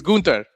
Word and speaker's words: Gunther: You're not pronouncing it. it's Gunther. Gunther.